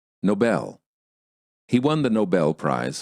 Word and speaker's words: Nobel: Dangers of stressing the wrong syllable. Stressing the wrong syllable sometimes creates misunderstandings because people think you're pronouncing a completely different word. The following words are great examples of why syllable stress is such an important component of the American accent. Listen and repeat.